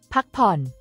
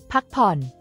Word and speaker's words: พักผ่อน: The difference in pronunciation is key here. Pak pon. Pak pon. Uses a rising tone for. Pak. And a high tone for.